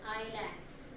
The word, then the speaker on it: Islands: Not pronounce the Iceland. It is as a silent word. Islands.